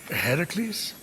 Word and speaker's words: Heracles: So, Fenyx, after boldly besting the Gorgon that ambushed Heracles, What are you doing there, that thing with your voice. Heracles? Yeah, that. That is how it's supposed to be pronounced.